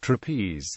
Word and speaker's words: trapeze: The English word trapeze is an example of an iambic pair of syllables, since the word is made up of 2 syllables and is pronounced with the stress on the second syllable.